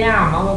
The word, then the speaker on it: llama: Oh, I say llama because it's 2 L's. Well, 2 L's is pronounced Y. That's right. in Spanish, isn't it?